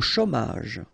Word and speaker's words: chômage: Au chômage. Remember, CH together, ch, chaud, chômage.